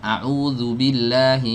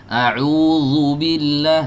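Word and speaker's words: أعوذ بالله: Kadang diantara kita tuh ada yang membaca ta'awudz, ya, a'udzubillahi minasyaitonir rajim. Itu kan pakai huruf zal. A'udzu. Nah, banyak yang membacanya itu pakai huruf zo. A'udzubillah, nih zo ini. Nah, harusnya pakai huruf zal.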